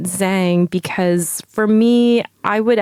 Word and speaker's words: Zhang: whole thing is that I always tell people to pronounce it Zhang because for me I